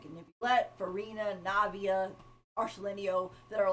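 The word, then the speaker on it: Arlecchino: I want to get Arselenio.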